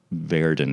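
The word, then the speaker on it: Verdon: Verdin. It's pronounced. Yeah, it's Verden.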